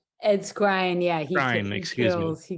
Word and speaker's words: Skrein: Did I pronounce his name? Ed Skrein, yeah, Skrein, he excuse me.